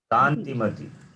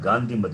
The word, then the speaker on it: Kantimati: Kantimati, Kantimati. not Gandhimati.